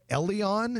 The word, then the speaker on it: Elleon: Here in Dundee, Elleon, it's spelled E-L-L-E-O-N, an upscale wine and cocktail lounge